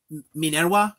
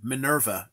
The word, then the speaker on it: Minerva: This one is well, Minerva is how I'd say it, but that's the Latin pronunciation. Minerva is fine in English too. She answers to both, but Minerva or Minerva.